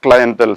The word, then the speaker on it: clientele: The British pronunciation is clientele, but it is rarely used, that's all. Now, the tricky area ELE has to be taken special care of.